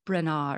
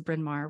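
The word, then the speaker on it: Bryn Mawr: remember what it was she thought it was Brena or something like that now I know that it was brinmar which is where I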